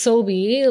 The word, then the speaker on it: Sobi: have to be like it's soie like the grocery store remember that that's not a y it ends with the I but uh yeah all right I go by soie but call me soika